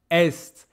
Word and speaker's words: est: Most important, pay attention to the pronunciation, which is very not obvious. This is west, west, et est. I know it's very confusing. It's written just like the verb être when you say il est.